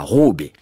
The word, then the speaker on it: Ruby: Porfirio Rubirosa Arizza, dit Ruby, on prononcera Robé, que l'on soit russe, tatar, biarro ou neuilléen, un simple diplomate mais à renom planétaire.